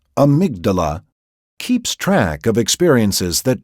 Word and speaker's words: amygdala: A tiny brain structure called the amygdala, pronounced amygdala, keeps track of experiences that trigger strong emotions.